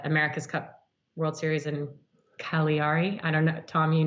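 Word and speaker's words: Cagliari: Cup World Series in Cali Ari I don't know Tom you know how to say it yari collier III syllable so so I'm so I've been instructed by all my Italian friends that's a big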